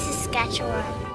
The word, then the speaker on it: Saskatchewan: come no just kidding I on Dad it's sasketchewan this is an old tourism video for Saskatchewan